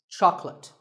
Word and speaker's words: chocolate: this at the store make sure that there are only two syllables Chuck and let chocolate and remember there is no late in chocolate speaking of chocolate how